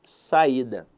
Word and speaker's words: saída: vocês aqui a palavra saída veja que a sílaba tônica dela está na penúltima sílaba então a verdade é que a palavra saída é uma paroxítona caramba Como assim veja